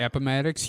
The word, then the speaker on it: Appomattox: And did I get the pronunciation of that one right? Appomattox, you did, actually. Sounds good to me.